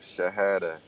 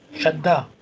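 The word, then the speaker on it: شدة: The alphabet with sukun is omitted before the alphabet with shahada. Shadda. Shahada. Shahada is actually a different word. This is pronounced as shadda.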